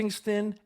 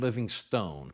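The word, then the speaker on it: Livingstone: name pronounced both living living ston and living Stone but I believe the correct pronunciation is Livingston even though the name ends with an E he was born on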